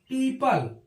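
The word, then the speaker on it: people: है जैसे आप देखेंगे पी ई ओ पी एल ई इसको पढ़ते हैं पीपल वो यहां से भी क्या होता है गायब हो जाता है ऐसे ही जे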